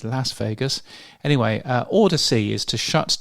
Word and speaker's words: Las Vegas: Firstly, in Las Vegas, um I've just pronounced it the Australian way, Las Vegas. It's not, of course, it's Las Vegas.